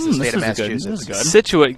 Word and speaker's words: Scituate: the state of massachusetts scituate gives people a lot of problems situated looking at the spelling it's not easy uh minster actually gives